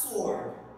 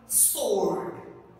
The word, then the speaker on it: sword: The first word that I have written, I have noticed several students pronounce it as sword, sword, but the correct pronunciation is sword. I hope you can also pronounce it with me, sword, sword.